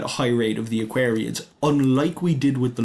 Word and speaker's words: Aquariids: I've been doing my best to pronounce it correctly this time, but I do have a habit of pronouncing them Aquarids, the Eta Aquarids. Really it is the Aquariids and you will see